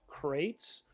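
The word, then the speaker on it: Qrates: festival clients including crates which is pronounced crates and spelled with a q crates is a complete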